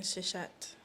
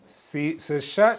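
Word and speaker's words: Seshat: What is the difference between Tahuti and Shashhat? I hope I'm pronouncing that name. Sashhat.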